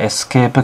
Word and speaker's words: ESC: あるのが、これがエスケープキーですね。ESC と書